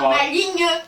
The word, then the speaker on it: maligne: le sien se prononce on dit bien maligne prononce minutes minutes papillon minutes minutes prononce c'est à voir hein Jean Lefer en 1584 dans un dictionnaire de RIM oui pour les poètes un peu fénéant et ben il fait rimé maligne avec vigne ça me paraît logique